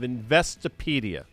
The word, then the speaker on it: Investopedia: Caleb is the editor-in-chief of Investopedia. See, I pronounced that correctly, by the way.